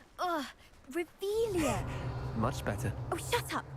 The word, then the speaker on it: Revelio: You're Revelius. saying it wrong. Ugh, Revelia. Much better. Oh, shut up. Wait. Revelio.